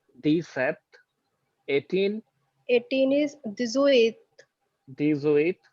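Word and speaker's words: dix-sept: 17, 17 is decept. decept.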